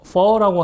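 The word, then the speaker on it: phở: 그게 이제 물음표 같은 이 표시가 되어 있는데 퍼라고 하는 이 성조. 발음할 때도 퍼 이렇게 성조를 하면 되는데요.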